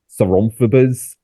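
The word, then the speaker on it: Soronprfbs: I think the closest that even the cast and crew figured out to pronounce it is Saronphobas from Frank.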